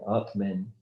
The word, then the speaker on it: atmen: It's interesting that the German word for breathing, atmen, is almost identical phonetically to the Sanskrit word for essence self, atman.